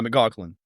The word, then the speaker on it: McLaughlin: some of them just don't how how to spell it's okay and then um what about your last name uh mlin M mlan y y got cool mlin